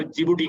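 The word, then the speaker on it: Djibouti: डी इसका silent होता है, तो मैंने इसलिए स्पेलिंग किए हैं ताकि कहीं आप ढूंढते ना रहें कि कहाँ जे से स्टार्ट करने वाला वर्ड है। ये लिखा डिजिबूटी होता है लेकिन पढ़ा जाता है जिबूटी।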